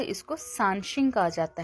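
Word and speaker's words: 三星: इसमें हमारे पास जो फर्स्ट वर्ड है शानशिंग।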